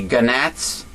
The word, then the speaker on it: gnat: Gnat, the G is silent.